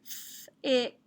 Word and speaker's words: thick: that i okay also we need to cross out the c that's the silent letter in the digraph ck okay and this word is thick thick very thick not